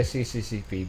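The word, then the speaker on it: СССР: It's pronounced SSSR. What else? I say CCCP because that's what it says on the screen.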